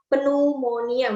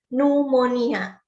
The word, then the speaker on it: pneumonia: numoni nya yah Hai bacanya bukan penuh moniyan bukannya tapi numoni a nah pneumonia apa ini